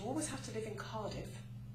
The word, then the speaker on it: Cardiff: will give you a clue I live in Cardiff that's spelled c a r d i f that